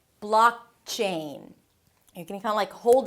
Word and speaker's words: blockchain: The "blaak" is the primary stress. Higher in pitch, longer, but you already know that. Blockchain.